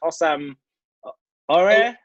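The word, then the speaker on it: Houssem Aouar: Oh, I can't pronounce his name. It's Hossam Aouar.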